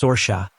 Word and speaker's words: Sorca: My name is Sorca, pronounced Sorsa. It's a somewhat rare Irish name.